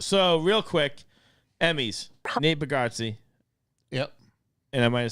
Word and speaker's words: Bargatze: So, real quick, Emmys, Nate Bargatze, Yep. and I might have said it wrong, No, Bargatze.